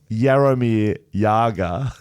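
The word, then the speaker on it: Jaromír Jágr: Jaromir Jagr, pronounced Jaromir Jagr, Yep.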